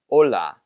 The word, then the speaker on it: hola: This one would be pronounced hola, remembering that he doesn't pronounce H's.